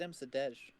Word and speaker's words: Msurdej: Is it Msurdej or is it Msurdej? It's Polish, so It it's is silent Msurdej.